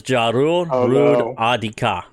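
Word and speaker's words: Jorruur rud adiika: So it's Jarur Rud Adika. Gather around kids. And it's spelled JORUUR RUD and then AD Betten IKA. Jarur Rud Adika.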